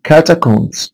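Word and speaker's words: catacombs: وخلي بالكوا حبايبي تاني حرف البي هنا سايلنت. كاتاكومز كاتاكومز كاتاكومز كاتاكومز انطق الاس لكن ما انطقش البي.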